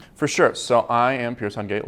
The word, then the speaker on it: Pearce Hungate: Today we've got Pearce Hungate with us. Did I pronounce that right, Pearce?